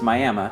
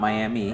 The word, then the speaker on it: Miami: Um, now it's Miami, not Miami.